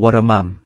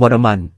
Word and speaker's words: วรม: อัน ศรีชัย สิงห วรม การ อ่าน ชื่อ ครั้ง ต่อ ไป อาจ อ่าน ออก เสียง วรมัน แต่ ใน จารึก จะ เขียน ท้าย ชื่อ ว่า วรม ซึ่ง เป็น ชื่อ ที่ ถูก ต้อง จะ ไม่ เขียน ว่า วรมัน ตาม ที่ ฝรั่ง เรียก นะ ครับ ท่าน แม่ ทัพ